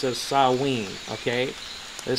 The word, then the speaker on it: Samhain: i n for some reason uh is perfectly pronounced as saen okay it says over here Sam pronounced S